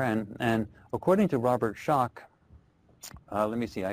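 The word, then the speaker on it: Schoch: uh it's s c o c but it's pronounced shock and he's written the book forgotten civilization where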